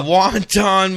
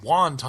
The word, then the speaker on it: wanton: Wanton maliciousness No. She's not ordering soup in a Chinese restaurant. It's not wonton.